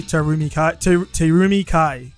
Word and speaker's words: Terumi Kai: normal i have a special guest with me terumi kai correct i said it right yes yes so